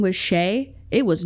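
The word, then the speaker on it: Skjei: It's pronounced Sheay, but it's spelled S K J E I.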